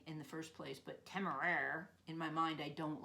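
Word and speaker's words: Temeraire: now is uh Naomi novic and she wrote timer that's how you pronounce it which in my mind I call it tamay because it's nicer I wish he'd called the dragon tamay in the first place but tamer in my mind I don't like it so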